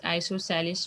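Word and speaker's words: isosceles: isos triangle also they it pronounced as isoceles triangle and isos triangle has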